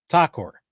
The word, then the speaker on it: Thakur: And, am I pronouncing your last name correctly? M. Thakur. Yes. Thakur.